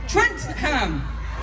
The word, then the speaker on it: Trentham: hi what is it trent ham how's it going trent pam it's it's my southern accent you see she's silent h is there's a sign h trent ham trenton right well we've got